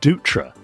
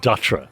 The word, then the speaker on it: Dutra: yes well ed says the correct pronunciation of my last name is dutra not datra as i've been calling